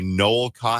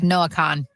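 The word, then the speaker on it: Noah Kahn: Your guy, Noel Khan, how do you say his last name? Noah Khan.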